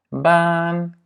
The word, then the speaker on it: baan: La première, c'est que les doubles voyelles sont toujours longues. Dubbele klinkers zijn altijd lang. Ja? Double voyelles sont toujours longues dans la prononciation. Donc, par exemple, A, baan, kaart. Ja? E, kleed, geen. Ja? Kleed en geen.